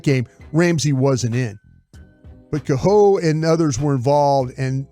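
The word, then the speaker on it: Kohou: It's Kaho.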